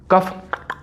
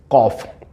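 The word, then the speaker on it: cough: उच्चारण इसका गलत करते हैं। इसका उच्चारण होता है कॉफ। सी ओ यू एफ कॉफ होता है। सी ओ यू जी H sorry C ओ यू जी एच को बोलते हैं कॉफ।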